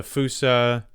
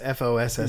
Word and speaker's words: fossa: I imagine the fusa, which I'm pronouncing it that way because that's the way they pronounce it in the movie. Even though it's Fossa. Yeah, it's probably fossa, but the fusa.